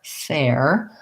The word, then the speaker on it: fair: meant by this but fair has the air diphthong and you're right it's going to be longer it's going to have the tense a and then it's going to glide into the air air fair whereas if